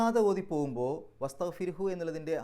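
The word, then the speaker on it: واستغفره: ഇനി അവിടെ പാരായണം നിർത്തുകയാണെങ്കിലോ, പാരായണം നിർത്തുകയാണെങ്കിൽ ആ ഹാഇന് വസ്തഗ്ഫിർഹു എന്നുള്ളതിൻ്റെ അവസാനത്തെ ഹാഇന് സുക്കൂൻ ഇട്ടിട്ട് നിർത്തുക. അപ്പോൾ വസ്തഗ്ഫിർ, ആ ഹ് എന്നുള്ളത് ചെറുതായിട്ടേ കേൾക്കുള്ളൂ, വസ്തഗ്ഫിർ എന്ന രൂപത്തിൽ.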